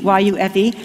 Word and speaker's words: Yufe: name, which was Yufi, Y-U-F-E, doesn't that mean Jew?" And Oscar said, "Oh no," he says, "that's a French name, it means it's pronounced Yufe."